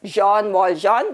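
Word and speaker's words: Jean Valjean: in a rough voice jean walljohn i've given you how to pronounce it to be pronounced as jean wall john that's the name of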